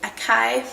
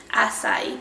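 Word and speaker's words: açaí: i'm pronouncing that right i used to pronounce it acai powder but that's not right i'm pretty sure it's acai powder a crazy little nutritional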